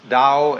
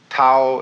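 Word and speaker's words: 道: the da ta AO pronounced Dao in the Mandarin dialect Tao in the changhai dialect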